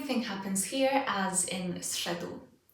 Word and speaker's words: zszedł: This is one syllable. Listen. Zszedł. Zszedł. What happens? Which of these consonant sounds changes? The correct answer is z. It's no longer a z, it's now a s.